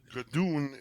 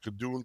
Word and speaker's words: Gadoon: Gadoon is a name that I was given.